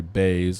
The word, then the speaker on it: Buys: favorite right the bookmakers are believing that JP buys is on a Bayes is how you pronounce it so JP bass is on his